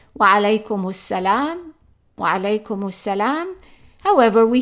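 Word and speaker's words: وعليكم السلام: Notice that we are not pronouncing the alif and we are not pronouncing the lam, and that's because this is son article. But we are doubling the first letter here.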